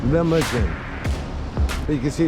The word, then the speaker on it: Lahmacun: Lahmacun. Lahmacun.